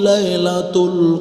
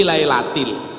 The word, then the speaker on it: lailatil: inna anzalnahu fi lailatul qadr kan salah yang kan harusnya jar majrur fi lailatil membacanya fi lailatun mertuanya ustaz langsung diingatkan dari